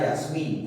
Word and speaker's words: Yasmín: Pero a diferencia, ¿no es cierto?, de mantel, tenemos la palabra Yasmín, por ejemplo, ¿no? Yasmín, por ejemplo, ¿no? ¿Y dónde está la mayor fuerza de voz, profesor? Acá, en la última sílaba, perfecto.